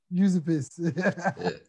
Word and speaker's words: Užupis: going to have to tell me how to pronounce this, Max, but Užupis. Užupis.